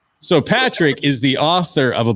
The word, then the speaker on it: Padraic: to the ceremony so we have is it padraig padre you can call it it's patrick it's oh that's a cool i always say